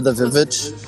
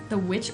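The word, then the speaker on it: The VVitch: The Witch or The Village? It's called The Witch, but it's spelled with two V's, so sometimes I call it The Vivitch because it's like trying to be old-timey.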